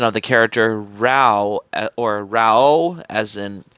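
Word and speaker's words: Raoh: So, because of the pronunciation of the character Rao, or Rao, as in you pronounce it as Ra and O in the pronunciation for the character Rao in the Fist of the North Star series, that's why.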